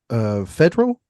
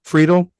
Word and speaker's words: Friedel: eye on here is his name is Christian Federal, I believe is how you say his name. He's the lead actor. Friedel.